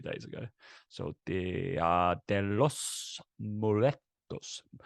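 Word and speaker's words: Día de los Muertos: I can't roll my R's. So can you roll your R's? No. Can you not try? Roll. No, I can't. Yeah, it's meant to be like Danny Rojas.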